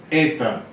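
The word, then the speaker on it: η: escrita é o h o som é eita eita tenta tenta aqui é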